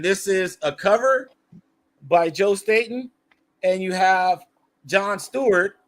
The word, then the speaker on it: Joe Staten: So that's how you pronounce his name, Joe Staten. I asked him, and I think that's how you pronounce it.